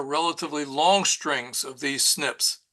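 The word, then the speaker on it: SNP: bunch of base pairs which are called snip pronounced Snips uh single nucleotide polymorphisms so Snips is a whole lot easier mouthful than that uh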